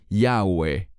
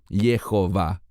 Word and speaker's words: Jehová: futuro ha jve yii cualquiera que conozca un poquitín de hebreo sabrá que es imposible pronunciarlo yahwe debe decirse Jehová es muy importante que